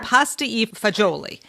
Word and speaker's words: pasta e fagioli: I have to tell people it's spelled pasta, then there's an E, and then there's Fagioli. So if you it looks like fagioli. Right, pasta e fagioli.